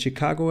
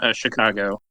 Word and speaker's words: Chicago: chicag what's see like how do you say it Chicago a or Chicago oh so um I'm uh I played in Chicago I guess it's more like a sha sound but I'm actually from